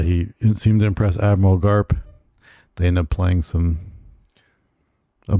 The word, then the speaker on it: Garp: I think Okay, yeah, it's it's Garb. Admiral Garb. Yeah, Admiral Garb. Is it Garb or Garp? Garp. Is it P? I'm pretty sure it's Garb, but it might be Garp. It's spelled with a P.